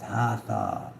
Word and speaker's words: Hathor: Hathor, pronounced Hathor, is a goddess of light, joy, and gratitude.